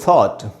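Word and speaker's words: thought: एक वावल है, उसके बाद GH है तो साइलेंट है। दूसरा वर्ड, ये वर्ड है दोस्तों थॉट, थिंक का past tense, थॉट, आई थॉट सो, मैंने ऐसा सोचा।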